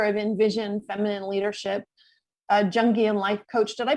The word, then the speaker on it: Jungian: a the founder of envision feminine leadership a jungian life coach did i pronounce that right it's jungian let's see i should have asked you first